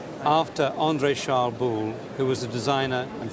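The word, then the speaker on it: Boulle: type of furniture is called I know it's Bill Furniture but we don't know how to spell it or what variation of spelling you get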